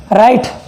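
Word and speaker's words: write: भी अगर आ जाए तो वहाँ पर वो साइलेंट हो जाता है। देखते हैं एग्जाम्पल, राइट, राइट जानते हो, ये दूसरा वाला राइट है,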